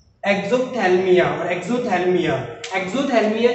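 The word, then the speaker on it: xerophthalmia: That disease is cause by deficiency of vitamin A एंड the name of disease is एक्सोथैल्मिया. द पी is silent in this word, right.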